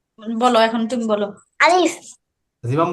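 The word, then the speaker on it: ب: বলো, এখন তুমি বলো। আলিফ জিমাম বলো। আলিফ মাশাআল্লাহ। এরপরে দেখো বা। বা এই যে মুখ আমাদের বন্ধ ঠোঁট করে কয়টা বলো তো?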